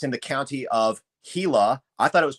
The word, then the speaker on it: Gila: This was in the area of Globe, Arizona, and it's in the county of Hila. I thought it was pronounced Gila, Arizona, but people are pronouncing it Gila.